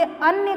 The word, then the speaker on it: अन्य: ध्यान दीजिएगा कि दोनों में उच्चारण में भी अंतर है और उसके अर्थ में भी अंतर है। जहाँ हम इसे अन्य कहते हैं वहीं इसको हम अन्न कहते हैं।